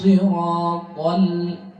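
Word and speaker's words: صراط: Sirata, sadnya tebal karena huruf isti'la, tapi tidak tebal yang full karena ini berharkat kasrah.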